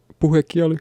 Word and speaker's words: puhekieli: But there's puhekieli, which is spoken Finnish, and there's kirjakieli, which is, forgive my pronunciation, kirjakieli, which is written Finnish.